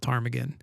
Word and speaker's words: ptarmigan: And so like you can go online and you can look up white-tailed ptarmigan, and that's spelled with a P, by the way.